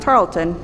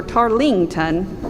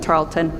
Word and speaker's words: Tarleton: It's pronounced Tarleton, not Tarleton or Tarlington, but Tarleton.